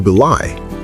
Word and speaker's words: belie: Let's pronounce it correctly first. To be lie. Be lie.